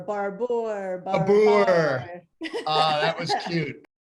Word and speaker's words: Barbour: you thank you steve have people been pronouncing your name wrong your whole life barbara barbour that was cute